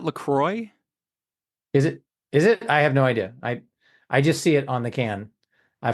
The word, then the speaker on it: La Croix: I've heard it pronounced La Croix, but it could have been somebody who was exaggerating for comedic effect I and assumed that it was purposely. pronounced the same way as like St.